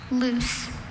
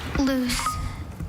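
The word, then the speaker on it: luce: Are there any alternate pronunciations? Just the one, loose. Loose. Loose. Loose. Can you repeat the word, please? Loose. Loose. Loose.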